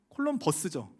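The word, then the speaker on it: Columbus: 콜럼부스는 콜럼버스죠. 버스라고 발음하는데 원래는 이 콜롬보라는 이름을 라틴어로 바꾼 게 콜럼부스가 되고 그걸 영어로 읽은 게 콜럼버스예요.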